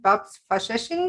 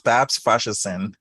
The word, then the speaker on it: Babs Faseesin: I'm really excited to have my new friend Bobs fashin no now I pronounce it wrong tell me how do you pronounce your name again BBS it's Babs Bashers thank Bashers all righty and BBs is the